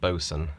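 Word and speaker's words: boatswain: bo80 sw-a-i-n and but it's always pronounced boson um so just a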